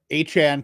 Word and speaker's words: Achane: he just to confirm, he came out and said he wants it pronounced Achane. So difficult, because we've been saying Achane the whole time.